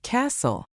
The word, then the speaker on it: castle: If you see a word ending in TL E, that T is basically invisible. Think of the word castle.